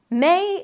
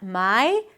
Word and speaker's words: May: You start with an M sound, then it's the A as in day. May. Start with an E, then shift to an E. Not my, but may.